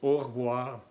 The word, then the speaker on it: au revoir: Decimos au revoir sin pronunciar la I aquí.